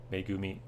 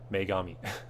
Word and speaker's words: Megami: a bigger View shin megumi tensei totally said it wrong Megami for some reason like